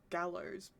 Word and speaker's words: GaLos: see, I'm pretty sure we did the spelling first, and then I was like, but we'll pronounce it like gallows because we're playing on it Mm.